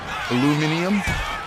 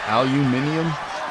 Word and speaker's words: aluminum: Aluminum? Aluminum? What pronunciation do you want? Aluminum? Aluminium? I don't know. People say it weird. It's aluminum.